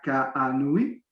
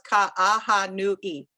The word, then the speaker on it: Ka'ahanui: We continue our Design & Sustainability series with a conversation with Ana Ka'ahanui, did I do it well? No, but that's okay. You have to pronounce everything, so it's Ka'ahanui.